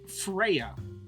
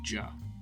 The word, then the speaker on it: Freyja: We are talking about Freyja. That's right. Freyja. No. There's a silent J in there.